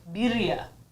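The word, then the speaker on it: birria: with yours i've learned i've been saying it wrong they're not berea tacos they're birya whatever i don't know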